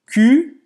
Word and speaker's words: cul: Então, Cul, mal au cul. o cul, você não vai pronunciar esse L no final.